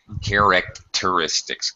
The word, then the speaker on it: characteristics: time characteristics cars yeah think about sort of separating the hard C and the T sound characteristics character teristics that stupid